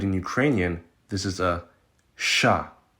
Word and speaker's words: Ш: Next up, we have what looks like a W, but in Ukrainian, this is a sha. It's basically like the sh in the English word shadow. Sha.